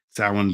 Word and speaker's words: Samhain: It looks like Sam Hain. And I noticed the old video we had of that was replaying a lot today, which is Samhain.